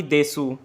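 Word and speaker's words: です: लिखना में चाहिए सू लेकिन मैं इसे प्रनंसीएशन में से लिखूंगा खाली यू साइलेंट होता है जैसा कि मैंने आपको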